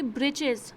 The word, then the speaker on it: breeches: Number 3, breeches. Breeches or short trousers. The writer here spells it for fun to rhyme with the word witches.